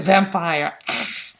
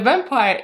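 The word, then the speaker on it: вампир: It's vampir. So I'm gonna put this in Cyrillic alphabet and the pronunciation below, almost the same, vampir. So there is a r at the end, vampir.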